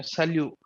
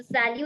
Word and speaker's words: salut: greeting your friends okay salute yeah salute so T has to come at the end we have to pronounce it no okay should not come at the end at all okay so salue is an informal way